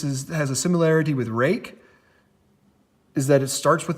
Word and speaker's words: Ruike: I do know that they say that this is supposed to be pronounced rake but no this is not in any way spelt like rake it is Mikey that